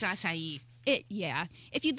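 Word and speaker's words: açaí: I don't know how to pronounce the word akai. Oh, I mean, hey, that sounds fun. Akai. Anyways, I think it's asai.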